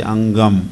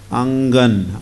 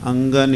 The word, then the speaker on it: Angan: Don't say Angam, okay? It's not Angam. There's some pronunciation lesson also here. Angan. Angan is courtyard.